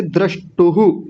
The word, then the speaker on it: द्रष्टुः: ये द्रष्टुहु ऐसा बोला जाएगा, द्रष्टुहु।